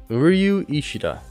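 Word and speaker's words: Uryu Ishida: I've tried multiple times there's like a u and a y in there and I'm like sorry not gonna try uriu Ishida is the right one Ishida you Ryu Isha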